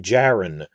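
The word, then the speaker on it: Djarin: character's name is din jaron spelled with a silent d at the beginning of jaron it's silent and i've seen this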